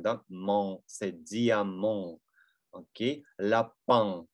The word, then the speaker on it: lapin: Окей, lapin, lapin. Да, когда заканчивается на ин, это тоже третий звук. Улыбаемся, lapin, lapin.